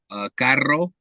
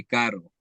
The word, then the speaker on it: carro: Some of the words that I find difficult are the ones where you have to roll your R's. Carro. Sometimes I'll say carro instead of saying carro, or barriga instead of saying barriga.